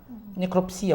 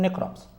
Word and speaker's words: necrópsia: Necropsia, alguns preferem essa pronúncia, eu prefiro necrópsia.